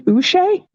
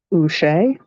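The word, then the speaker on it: Uche: just basic jalen silver josh ushay wait is how you say his name he's a pat that looks like a pat oochee looky there so i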